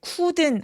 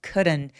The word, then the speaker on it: couldn't: couldn't 할 때 couldn't 아니고요. 의에 가깝게 발음하시면 돼요. couldn't. 그리고 이 D는 아까 말씀드린 그 water 할 때처럼 굴러가는 발음을 내게 됩니다. 그래서 우리말의 리을에 좀 더 가까워요.